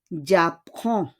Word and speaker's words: j'apprends: It will be j'apprends. J'apprends. On prononce pas le D o S. Hindi natin pinopronounce yung D and S.